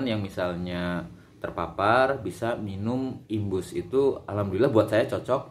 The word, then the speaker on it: IMBOOST: Jadi tulisannya itu IMBOOST gitu ya, Imbus atau bacanya Imbus ya.